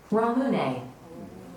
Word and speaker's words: ramune: This drink looks interesting but I don't know how to pronounce it. Simply click on the audio icon to listen. Ramune.